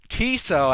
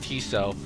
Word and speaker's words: Tiso: Every single time I die, so Tiso, as his name is actually pronounced, as I learned from my my sister's broadcast, his name is pronounced Tiso.